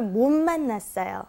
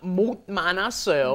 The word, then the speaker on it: 못 만났어요: It's kind of like an N sound, isn't it, when it comes before an M.